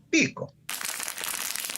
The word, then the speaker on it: Pico: Se puede pronunciar, si lleva tilde, Picó. Si no lleva tilde, Pico.